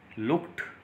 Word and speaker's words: looked: लुक का जब past हम यूज करते हैं, सेकंड फॉर्म यूज करते हैं, ईडी साउंड टे साउंड में ट्रांसफॉर्म हो जाती है. ये वर्ड लुक्ड प्रोनाउंस होगा.